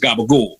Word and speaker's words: capicola: like you know like capicola is pronounced gabagool you know like because it's not really pronounced that way but in America it's all bastardize so